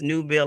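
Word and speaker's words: Newbill: normally letting folks know it's new bill like a new dollar bill so I love it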